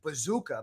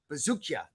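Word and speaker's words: Buzukja: And Longo's guy, Dennis, Longo calls him Bazooka, but it's actually Bazookia.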